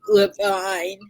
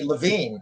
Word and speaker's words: Levine: And I am here to speak with Levine about his bookstore that has been actually in existence since 1905, over 100 years old.